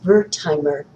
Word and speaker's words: Wertheimer: Number seven is Wertheimer, and that also is spelled with a W, by the way, who formed the Gestalt School of Psychology.